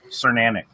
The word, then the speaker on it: Cernanic: Okay, so it rhymes with ceramic. Cernanic.